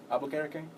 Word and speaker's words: Albuquerque: Albuquerque?